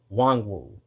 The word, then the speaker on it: Nwangwu: Kene Nwangwu. The N is silent, by the way. It's spelled Nwangwu and pronounced Wangwu.